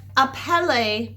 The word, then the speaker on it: appeler: So just like appeler means to call, basically all other verbs in French are going to end with that ER, but it's pronounced A.